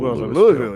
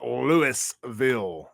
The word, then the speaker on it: Louisville: Oh, Louisville. He's like, it's Louisville. It's Louisville, not Louisville.